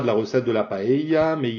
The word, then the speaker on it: paella: Alors c'est vraiment très différent de la manière de le prononcer en français, qui paella, enfin bon, la vraie manière de le dire c'est paella, avec le eia, qui est vraiment très fortement prononcé. Dès qu'il y a deux L, l'accent tonique est sur les deux L et la voyelle qui est juste avant. Paella.